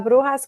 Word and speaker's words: bruja: So La Brujas Club, which you did say correctly behind the scenes, but it's just bruja like an H.